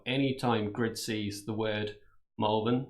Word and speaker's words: Malvern: So we're based in a town called Malvern, but that's spelt with an A. So a lot of voices pronounce it as Malvern.